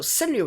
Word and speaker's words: 川柳: send new shoujo so send new itself even though it sounds like just two syllables right it actually consists of four especially it sounds at